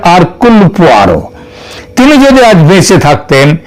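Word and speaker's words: Hercule: এবং তার গয়েন্দা আরক এটা যদিও উচ্চার উচ্চারণে এটা হয় হারক কিন্তু একচুয়ালি উচ্চারণটা হচ্ছে আরকুল তিনি যদি আজ বেঁচে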